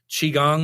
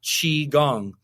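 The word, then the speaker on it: qigong: part about chiong is like saying it like Chiang like what what is this it's spelled Qi g n g and it's pronounced chi gong now Chi simply means life force energy life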